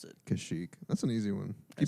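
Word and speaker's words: Kashyyyk: the wook home world and how do you pronounce it kashik that's an easy one you play Battlefront you know that if you're real Battlefront OG I think most people say Kik like like the the in 19 Republic bastila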